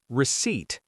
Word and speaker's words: receipt: Second receipt. People say receipt. That p at the end of rept. Silent. You never say it.